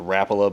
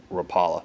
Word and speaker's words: Rapala: I was a kid and I know he's pronounced Rapala but it's something that just keep on sometimes it slips up and I call it Rapala so you see the way the design of